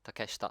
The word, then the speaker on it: Takeshita: Or Well, the first thing I wrote about is Takeshita Street. Right? Yeah. Takeshita. Yeah. Takeshita. That one. Shita together is Shita. pronounced shita. So it's Takeshita.